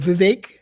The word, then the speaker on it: Vivek: I can't even say his last name, but Vivek. It rhymes with cake.